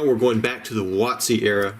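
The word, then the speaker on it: WotC: going back to the watsi era watsi is wtc it's basically giving a pronunciation to an acronym wtc stands for wizards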